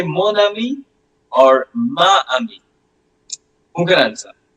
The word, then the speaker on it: mon: Mo it will be moni. It will be m o n. Okay. And and the pronunciation will be moni. It's moni.